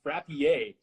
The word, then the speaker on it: Frappier: Mark Frappide says it's pronounced Frappier. Apparently, Frappier? It's French Canadian, so they don't abide by any rules of grammar, so that's understandable.